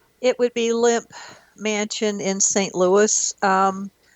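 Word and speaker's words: Lemp: It would be limp mansion in St. Louis. Um, it's spelled L E M P.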